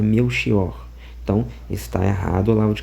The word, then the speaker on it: Melchior: esse nome e que a pronúncia eh sobre a ótica da língua portuguesa correta da palavra meu xior ou meu kior é meu xior. É meu porque é com ch, né, aqui em Portugal, então é meu xior.